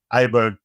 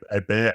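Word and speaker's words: Åberg: So Aberg, or Aberg, however you want to pronounce it, rates really, really well for me.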